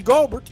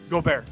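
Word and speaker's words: Gobert: bear yeah goldberg listen my wife is french you better pronounce that hey man but when you start playing like the frenchman that you are then you'll get the name go bear but until then your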